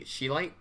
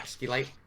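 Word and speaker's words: Scheelite: caves, searching for the Sheelite, right? Is that what it's called? Yeah. Skeelite. In order to get the tungsten. They pronounce the SCH weirdly, like weirdly hard. I think it's just Sheelite.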